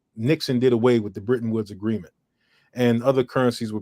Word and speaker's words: Bretton Woods: The Britain, what's the name of that thing again?